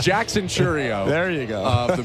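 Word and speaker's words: Chourio: want it I don't even know how to pronounce his last name did you look it up yeah all right it's Jackson chrio there you go of the Milwaukee Brewers who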